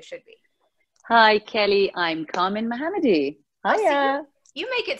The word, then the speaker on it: Kamin Mohammadi: gonna let you say your full name and pronounce it the way it should be hi Kelly I'm Carmen mohammadi oh yeah you make it sound so easy